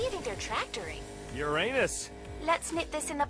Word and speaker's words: Uranus: jokes about Uranus besides the proper pronunciation is Uranus it's a tactile sorry